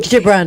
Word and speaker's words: Gibran: time a little callot from I'll try to pronounce this person's name is kahil Gil Gibran Gibran KH Gibran yeah Gibran yeah our anxiety does